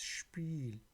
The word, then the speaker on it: Spiel: So wherever you see SP written, it will sound like again SCHP. For example, der Sport in English. Thus, der Sport. Spanien, Spain, Spanien. Das Spiel, meaning game.